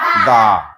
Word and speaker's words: the: Vowel হলে দি উচ্চারণ।